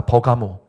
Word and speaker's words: 버가모: 버가모. 버가모의 영어식 발음이 페라가몬입니다.